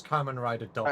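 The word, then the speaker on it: Kamen Rider W: That is Carman Rider W just pronounced double. So it's common rider double hension by the way.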